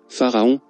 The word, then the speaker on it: Pharaon: On récite ce mantra en le séparant en 3 syllabes, Pharaon, en inspirant entre chacune.